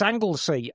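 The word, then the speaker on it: Anglesey: Emma, for sake, it's Anglesy.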